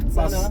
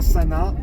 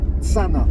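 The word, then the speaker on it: Cana: Et Lorik Tsana. pas Sana, Tsana.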